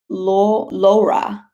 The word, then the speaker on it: Laura: It's spelled Laura, but it's actually Laura. Laura.